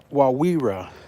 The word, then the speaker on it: Wawira: Wawira. There's no second R. Wawira.